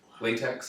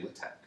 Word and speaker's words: LaTeX: look at it better latex I think it's a couple people pronounce it but it's actually lit Tech thank you for that